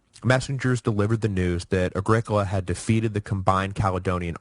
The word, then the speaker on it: Agricola: mock Triumph was that Agricola and yes thank you for the pronunciation correction it is Agricola not Agricola which yeah I agree sounds like some kind of terrible hippie soda so I'm sorry about